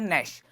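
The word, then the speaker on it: gnash: इसको बोलते हैं, जी इसमें साइलेंट रहता है, इसको बोलते हैं नैश।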